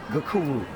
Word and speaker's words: Gakuru: I mean, it's pronounced how it's spelled, so.